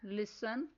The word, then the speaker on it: listen: Words are listen, watch, hatch. Next silent letter is L.